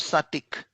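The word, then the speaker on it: Psattiq: them one is called satik p is silent p s a t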